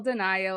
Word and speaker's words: DeNio: capacity is with our incredible guest speaker Denio of denial Consulting welcome and thanks